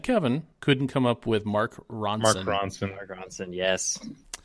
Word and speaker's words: Mark Ronson: Because Ro and Kevin couldn't come up with Mark Ronson. Mark Ronson. Mark Ronson, yes. I was gonna say it rhymes with the name of the rapper that's also a chef. Action Bronson.